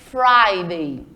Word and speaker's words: Friday: e falar o dorsday Friday é escrito como Friday mas quando a gente pronuncia coloca um som de ai nesse I Friday certo e contar um